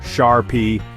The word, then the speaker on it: Charpy: On the other side of the ring, we have the Sharpie, pronounced Sharpie, impact test.